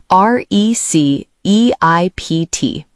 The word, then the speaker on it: receipt: R E C E I P T. Receipt. Be careful, the P is silent.